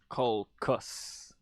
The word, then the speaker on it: caucus: the way that I call it caucus, cau- caucus, that's caucus, like Calcutta.